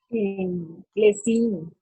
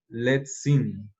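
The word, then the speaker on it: לצים: Lesin. Bien, bien. Solamente te agregaría una cosa. Leíste esto como si fuera como una Z, pero esto lo debes leer como TZ. Let's sing.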